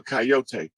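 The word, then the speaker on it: Kiot: and it's it's um it's spelled that way and it sounds like coyote or coyote but it's a tribe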